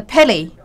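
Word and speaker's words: Pele: cannot really predict it they talk about is a Haley that's it's a penny the same pronunciation as the football king of Brazil and in the people's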